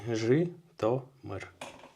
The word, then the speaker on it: Zhytomyr: I have learned to pronounce Zhytomyr correctly. Zhytomyr.